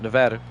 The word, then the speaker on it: Nevada: I always pronounce it Nevada. That's the way the locals pronounce it.